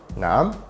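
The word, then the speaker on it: نعم: other person said so it's actually pronounced as a question nam it's basically an alternative way of saying which is a bit direct saying nam in this scenario is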